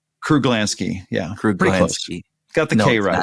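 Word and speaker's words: Kruglanski: Kruglansky.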